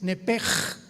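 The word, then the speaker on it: נפש: Nepesh se pronuncia en el hebreo como JLS, es nepej. Nep. Por eso el Espíritu Santo se pronuncia roaj, se escribe roach, ch. Roaj, el cadosh. Entonces, la sh se pronuncia como J.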